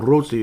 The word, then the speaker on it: Rossi: See, we can't say Rossi, or we can't say Rossi. You have to say Rossi or just Rossi. Otherwise, it's just, he's tired of you guys mispronouncing it, damn it. So just say Rossi.